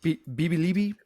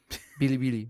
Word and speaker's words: Bilibili: Bibi bro. Bilibili. I'm sorry, I said the name wrong. I said Bibi. Oh my god. Motherfucker China. No, Bilibili, bro.